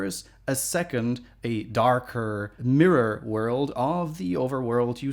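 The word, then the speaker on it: Myrror: world and it's called Mira I'm pronouncing it weirdly because it's spelled with a Y so it's called mirror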